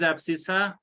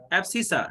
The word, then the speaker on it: abscissa: What is abscissa? Then we have Sir, how to pronounce that abscess, whatever is that is. abscissa, abscissa, ABSCISSA, abscissa.